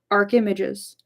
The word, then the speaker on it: archimages: she calls quote unquote arch images. rhymes with rages. Oh, archimages.